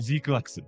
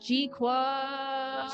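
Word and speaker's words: GQuuuuuuX: Like is that how you pronounce that? Zquax. Yes, that's how it's pronounced. It's not Gqu.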